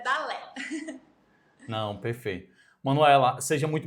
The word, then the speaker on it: Dalé: Muita gente fala Dalé. Dali, mas é Dalé.